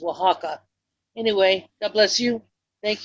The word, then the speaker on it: Oaxaca: Etta Maceo and Guaymas I believe your cheese would be pronounced Oaxaca it is a town and a region but it's spelled the way you were saying it your cheese's spelled it is Oaxaca anyway god bless you